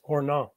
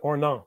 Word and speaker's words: Ornans: No S, Ornans. Ornans? Yeah, Ornans, right. You don't say the S. Okay, I'm not French. What scene greets Jan and Marcus as they approach the gates of Ornans?